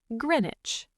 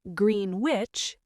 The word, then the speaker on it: Greenwich: Number 3, Greenwich. This is a beautiful area by the river. It is not Greenwich, it is Greenwich.